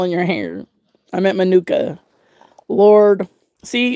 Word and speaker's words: Manuka: Is how it's pronounced. Manuka.